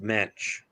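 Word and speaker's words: Moench: Now, see, I always heard Doug's last name pronounced Mensch, because and usually in German, if there's two vowels together, usually it's the second one is emphasized.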